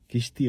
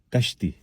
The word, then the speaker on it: کشتی: کشتی غلط ہے، درست تلفظ ہے کشتی.